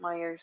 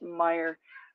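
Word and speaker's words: Meijer: It's actually just Meyer, but I think it's a Michigan thing. I think we just say Myers.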